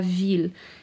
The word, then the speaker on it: ville: or the city okay so la ville it isn't often that we pronounce the double l in french but we do here okay so i'm going